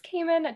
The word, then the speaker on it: Kaman: about yourself and uh what do you prefer to pronounce um so my name is caiman just as maurice said